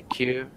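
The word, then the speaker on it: queue: It's line in the US and the Q in UK. Q Q just like this Q. They're pronounced in the same way.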